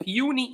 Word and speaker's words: puny: So, it's pronounced puni indeed.